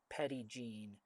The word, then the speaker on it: Petit Jean: and then Jean, Jean, but it's pronounced here Petit Jean. and people were saying petty gene, and I'm like, what is this petty gene? I don't know what they're talking about. No, it's petty gene.